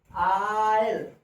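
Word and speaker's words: I'll: आई विल को जो संक्षिप्त कंट्रैक्शन के रूप में जो प्रोनाउंसिएशन करेंगे, आयल, आयल। ऐसे आयल।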